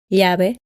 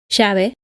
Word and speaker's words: llave: For example, Llave, calle, apellido, pollo, lluvia. in most of Argentina, Uruguay, and Paraguay, both Y and the double L are pronounced sh. Llave, calle, apellido, pollo, lluvia, playa.